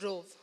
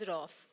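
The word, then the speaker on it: Rouf: In the capital of Srinagar, the form pronounced of Rov, but in the rural areas, it is pronounced as Rof.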